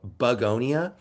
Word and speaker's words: Bugonia: Uh, they have a film out called Bugonia. Um, it's not spelled like Beonia the flower, but bug, like an insect, and details are pretty scarce.